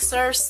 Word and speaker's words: Circe: When I read the Odyssey in high school, I always pronounced it as Circe because C-I-R, Sir, and then C-E, S. So Circe.